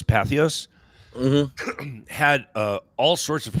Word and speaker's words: Patheos: Back then, because you had is it pronounced Patheos?